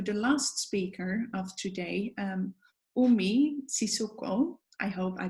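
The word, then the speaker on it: Umi Sissoko: to move to the last speaker of today Oh me Sissoko I hope I pronounced your name correctly yes okay Umi is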